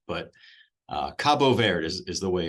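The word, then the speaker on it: Cabo Verde: saying it wrong well it's Portuguese so they're not named in Spanish they're Portuguese and it's Cabo ver is how they pronounce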